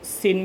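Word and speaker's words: sine: पहला trigonometric ratio होता है, इसको सिन भी प्रोनाउंसिएट करते हैं, साइन भी प्रोनाउंसिएट करते हैं।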